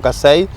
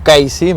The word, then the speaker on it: Casey: Ahí aparecen los irlandeses como Eduardo, Lorenzo Casey, o Casey, mejor dicho, para que no se enoje la colectividad irlandesa, que si se enoja está bien, porque tenemos que pronunciarlo como debe ser, y sí son un